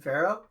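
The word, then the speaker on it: Firo: F-I-R-O, and it's most certainly pronounced Pharaoh.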